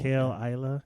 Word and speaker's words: Caol Ila: It's just Isla. This is Isla? not Isla, yeah. Not Ila, Isla. Yeah, Caol. Caol Ila.